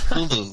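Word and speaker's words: Cthulhu: to be pronounced it sounds more like sneeze with a glossal stop you know culu okay okay you know let's go with cthulu just so we know what we're talking about it's better than trying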